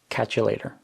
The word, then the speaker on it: catch you later: This would be pronounced by a fluent speaker as catch you later. Catch you later. So catch and you are combined into one word, catcha. And then the t in later is pronounced as a d.